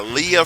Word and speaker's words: Lija: All right, now, with that being said, I'm joined by Lija Fisher. Now, I'm going to tell you guys, her name is, she has a silent J in her name, and I've never met anyone with a silent J, but she's a sweetheart.